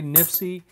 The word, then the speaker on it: NIFC: heard me said before when I say nipsey that's the way I pronounce nifc which is for not